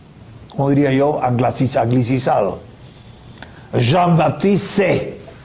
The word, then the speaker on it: Say: diría yo, anglicizado, Jean-Baptiste Say, que algunos dicen sei como si fuera inglés y no es tal cosa.